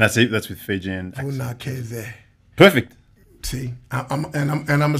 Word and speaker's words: Vunakece: C in Fijian is actually pronounced as a TH sound. So Vunakece. And that's it. That's with Fijian. Vunakece.